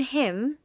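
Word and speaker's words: hymn: In him, the N is silent.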